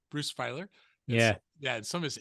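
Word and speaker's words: Feiler: you to tell us about Bruce is it pronounced fer Bruce fer yeah yeah some of his insights that you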